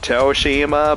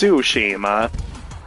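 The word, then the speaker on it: Tsushima: events of ghost of of sushima I always pronounce it ghost of toshima but it's so it's sushima um and yeah man I'm really really looking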